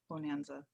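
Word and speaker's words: Bohnanza: list right now and it's spelled like b-o-h-n because they're beans you're treating like different beans and stuff so yeah bonanza bonanza the trading resources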